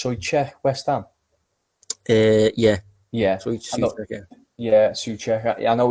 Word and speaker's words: Souček: You know, I know they've got is it pronounced Souček, West Ham? Yeah. Souček, yeah.